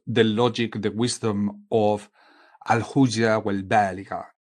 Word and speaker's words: الحجة البالغة: So let's repeat that sentence again, which Ibn al-Arabi calls the logic, the wisdom of al-hujja wal-baligha. It's just for pronunciation correction. Al-hujja wal-baligha.